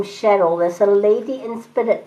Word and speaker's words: Cheryl: But I am getting the name Cheryl. There's a lady in spirit by the name of Cheryl. And she says it's spelled C-H, she's even spelling it out. It's C-H-E-R-Y-L, Cheryl.